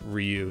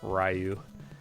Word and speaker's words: Ryu: It wasn't until many years later that I learned that it's Ryu, not Ryu, in Street Fighter.